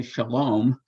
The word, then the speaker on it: shalom: That's why in Hebrew you say shalom, that O in the second syllable.